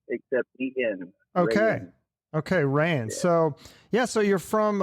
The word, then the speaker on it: Rayen: so yeah but you could call my name ray in like the fabric except okay okay ryan so yeah so you're